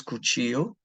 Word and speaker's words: cuchillo: Knife is cuchillo. The double L is pronounced like a Y.